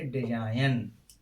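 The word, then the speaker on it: design: नियम नंबर 3 क्या कहता है, जब किसी वर्ड में जी के तुरंत बाद एन आता है तो जी का उच्चारण नहीं किया जाता है।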